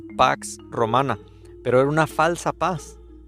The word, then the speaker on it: Pax Romana: el en el griego antiguo se pronunciaba sino como Bueno lo más cercano pax romana pero era una falsa